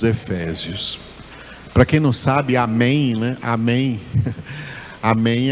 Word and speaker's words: Amém: pronuncia com n porque tudo quanto é palavra em português que termina com m nós da língua portuguesa não pronunciamos esse M nos pronunciamos ele então